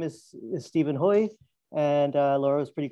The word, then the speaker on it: Hui: for having me so my name is stephen hoy and uh laura was pretty close on the pronunciation um and yeah i'm the author of